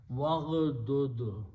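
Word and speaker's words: وَاغْضُضْ: Then you put a waw in the beginning. Waw will combine with the ghain, so do not pronounce this alif, becomes hamzatul wasl. Waghdud, that's the word in the Quran.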